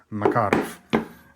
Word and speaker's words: Makarov: um by the way in Russian it should be pronounced Makarov uh not uh marov